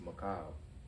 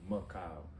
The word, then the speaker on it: Mikhail: It's actually pronounced Mikhail, like Mikhail.